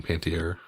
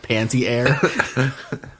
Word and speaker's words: Panettiere: I love how her last name is pronounced Panettiere, and the way that you pronounce it sounded like Panty Air.